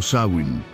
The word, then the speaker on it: Samhain: Samhain, pronunciato Samhain, segna la fine di un ciclo di vita e l'inizio di un altro.